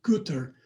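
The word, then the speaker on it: Goethe: This is from Goth. I've actually heard it's pronounced Guter, but I'm just going to keep calling it Goth because I don't think people know what Guter means in German.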